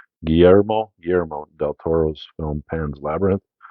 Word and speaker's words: Guillermo del Toro: now next up is number 84 which is Geronimo Del Toro is that how you pronounce his name Guillermo Guillermo del Toro's film Pan's Labyrinth no issue with